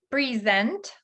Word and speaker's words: present: Present, ударение на последний слог. Present, презентовать, да, показывать. У нас есть слово презентация, present, или present. подарок. Present, первый слог под ударением.